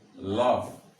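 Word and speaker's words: laugh: জি এইচ, এল ও ইউ জি এইচ, আমার উচ্চারণটা কি হচ্ছে? Lock. and L A U G H কি হচ্ছে? লফ।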